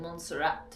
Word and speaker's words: Monserrate: C'est bien Monserrate, parce qu'il y a un « e » à la fin, non ? Est-ce que ça se prononce Monserrate ?